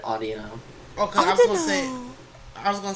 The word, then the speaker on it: Audino: Ordino. Well, that's another way to pronounce it. Some people pronounce it like that. Okay, In fact, I think the anime pronounces it Audino.